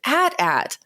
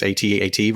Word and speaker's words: AT-AT: people who think it's atat versus people who think it's at at just like people who